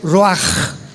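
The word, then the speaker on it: רוח: apunta la palabra espíritu del hebreo ru con ch se pronuncia roaj como con j.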